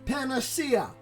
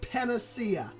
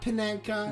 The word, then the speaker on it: panacea: world nothing is impossible Panacea that is how they're pronounced so that Panacea okay not panenka wonderful Tennessee and would